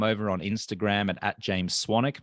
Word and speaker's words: Swanwick: on Instagram at James swanic my last name is actually spelled swanwick but it's pronounced swanic and then um you